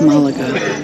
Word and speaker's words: Málaga: It's Malaga. It's like the emphasis is on the A.